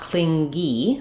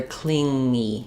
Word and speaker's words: clingy: And yeah, it's not clingy, but rather clingy. Clingy. So in the IPA, you're going to see cling. You're going to see that long tail for the ng sound and then the e. So it's like the word cling. No g, and then the e sound.